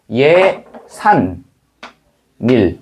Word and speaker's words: 예산일: 그다음에 1 이렇게 되겠고 우리가 최종적으로 발음할 때는 니은니은이 첨가돼서 예산 닐 이렇게 되겠지. 예산닐 이렇게 되겠죠.